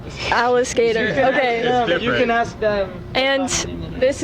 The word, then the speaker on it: Alliskater: it right Alis skater it's like alligator but Alis skater Alis skater you can ask them